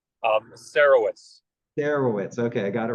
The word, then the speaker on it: Sarowitz: My guess would be Sarowitz. Sarowitz.